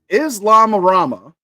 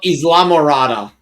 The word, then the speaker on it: Islamorada: Is Islamama Islamama? It turns out that the casual cruise cruised into a federal drug bus. Oh, Islam. Islamorada.